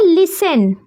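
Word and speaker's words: listen: सुनने को बोलते हैं लिसन। यहां पर टी साइलेंट हो जाता है। तो यहां पर हम पढ़ते हैं लिसन।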